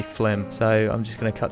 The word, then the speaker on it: Flim: that I always mispronounce it looks like it should be filmed just in my defense here I was gonna say film but it's actually Flint so I'm just gonna